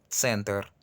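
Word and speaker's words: центр: Hay como una pequeña vocal ahí. No se escribe, pero se pronuncia, ya que el ruso no permite, como a diferencia del francés, decir center. No dice, el ruso dice center. No, no, no. Suena muy, muy feo. Es simplemente center.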